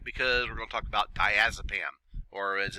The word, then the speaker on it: diazepam: gel form and that's the diastat so again diazepam is your pronunciation and for those of you that uh